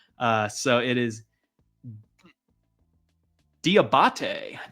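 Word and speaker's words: Diabaté: All right, I looked up how to actually pronounce his last name. Uh, so it is Diabate. Diabate.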